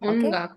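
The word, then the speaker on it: 音楽: Ongaku. Pronounce all of it.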